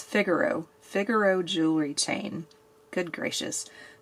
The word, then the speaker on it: Figaro: It's Figaro.